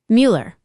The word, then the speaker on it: Mueller: Mueller. You nailed it. That's how you pronounce Mueller with the umlout. It's a tricky one.